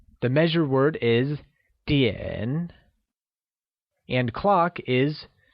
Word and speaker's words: 点: The measure word for time is 点, and it is pronounced using a falling rising tone, like 点.